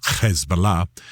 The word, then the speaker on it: Hezbollah: And you hear me pronouncing a little bit oddly I'm using the Arab pronunciation. A little bit of Hezbollah.